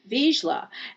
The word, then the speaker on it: Vizsla: It's really Vizsla.